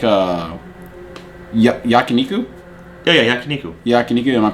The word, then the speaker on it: Yakiniku: uh it's like uh Yakiniku yeah yeah Yakiniku Yakiniku am my pronounce that is that Yakiniku yeah Bas basically like Korean barbecue but Japanese